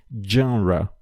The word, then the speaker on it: genre: Então, a gente usa do francês a palavra genre. Genre. É uma palavra que normalmente acaba sendo pronunciada de forma incorreta, mas saibam que por vir do francês, a gente tem que também utilizar a pronúncia do francês.